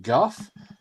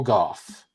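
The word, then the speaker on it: Gough: It's spelled like go or gaw, but I think it's pronounced Guff.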